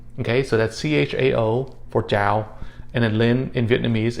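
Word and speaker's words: chào: hello or hi c-h-a-o it's pronounced with a j sound all right so again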